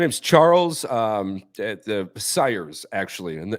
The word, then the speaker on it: Syers: pronounced my entire life unless you're part of the Cyrus family and then we'll tell you it's sires not Sears but uh yeah in